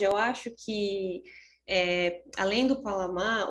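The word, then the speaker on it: Pallasmaa: mesmo assunto, essa pronúncia, Palasma? Na verdade é Palamá, né? Porque ele é finlandês. Então sim, Juhani tá certo.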